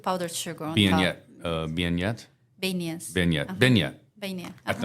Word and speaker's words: beignet: Beignet? Beignets. Beignet. Uh-huh. Beignet. Beignet. I don't know. You pronounce it better than I do. That's French. Because French T is silent at the end.